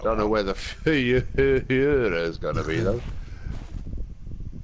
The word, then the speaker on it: Führer: Right, don't know where the Führer is going to be, though.